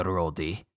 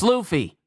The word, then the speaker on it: Luffy: So I have a question for you, Rhodey. It's Luffy. Wow, someone getting Luffy's name wrong.